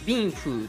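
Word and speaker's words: 冰壶: ビンフーと読む。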